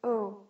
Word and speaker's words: au: A and le, that changes, that goes to the word o, just like the letter L-M-N-O-P.